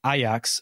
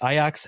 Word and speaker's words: Ajax: makab Tel Aviv and aox it's spelled Ajax as in Ajax Ontario but or the cleanser but it is aox and they uh were